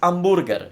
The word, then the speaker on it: hamburger: a hamburger well it's hamburger in Italian because you got to pronounce it like an Italian wood so the H is silent and then we don't